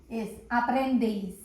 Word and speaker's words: aprendéis: A-P-R-E-N-D-E-I-S. Aprendeis. And an accent on E. Aprendeis.